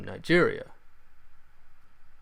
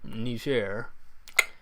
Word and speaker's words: Niger: Benin, Niger, which, yeah, I pronounce that with a soft J. It's like a French way of pronouncing the country's name. That's what I understand they prefer to, I think, is that they prefer to pronounce it Niger, though I could be butchering that pronunciation, who knows.